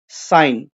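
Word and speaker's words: sign: underline करना है जैसे साइन साइन साइन इस तरीके से बोला जाता है साइन इसमें जी नहीं बोला गया तो यह एक वर्ड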